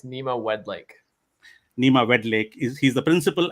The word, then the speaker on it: Nima Wedlake: But Nima, do you want to help me with your pronunciation of your second name? Absolutely, yeah. It's Nima Wedlake.